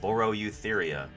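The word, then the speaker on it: Boreoeutheria: e u t h e r i a borro eutheria you like me to use it in a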